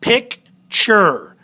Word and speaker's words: picture: Pick has the accented syllable. Ture has the unaccented. So picture. So pick is a little bit higher. Ture is a little bit lower. More accent on this first one.